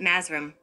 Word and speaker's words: mathram: of the Black magicians is written mathram and they pronounce it masram the Lost word of